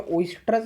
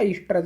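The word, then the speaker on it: oestrus: अब देखिए इसे प्रोनाउंसिएशन में ओइस्ट्रस भी बोलते हैं या ईस्ट्रस भी आप बोल सकते हैं।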